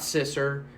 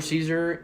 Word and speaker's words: Caesar: So Caesar is pronounced Caesar, like the salad. It's not Sisser. It's not Sister. It's not Sizer. It's Caesar. I know it's weird, but it's Italian. So that's where Caesar is originally from.